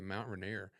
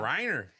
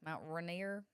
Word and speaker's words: Rainier: You said Rainier. He's like, what was that? Mount Rainier.